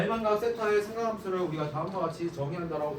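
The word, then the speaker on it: θ: 자 OP가 X축의 양의 방향과 이루는 각의 크기를 뭐라고 했을 때 세타라고 했을 때 자 이거 세타예요. 세타 읽을 때 세타라고 읽는다고.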